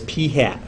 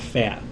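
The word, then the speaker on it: p̂: little mark over it we say that or pronounce that as p hat okay we call that p hat not fat p hat okay that's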